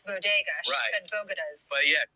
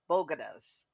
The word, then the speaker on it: bodegas: someone wrote that because she didn't know how to pronounce bodegas yeah it's not called bogotas so anyway um let's